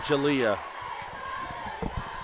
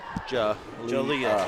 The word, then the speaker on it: Jalea: Jalea. Like with an A sound? Jalea.